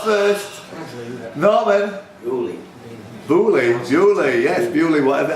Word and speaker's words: Beaulieu: Bewley, yes, Bewley, whatever. How do you pronounce that even? Really? Bewley. Don't look like Bewley to me, it looks like Beaulieu.